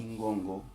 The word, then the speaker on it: ngongo: Se vocês repararem bem, eu li Mbolo e Ngongo. Não. Mbolo nem Ngongo. Lê-se Mbolo, Ngongo.